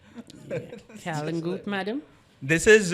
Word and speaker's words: Kalangute: This is, I think, the greatest pronunciation errors that happen are where you see South Asian countries or Asian countries which are tourist destinations and they get white people coming in to those places. That is where all of this Kalangute and all of that happens.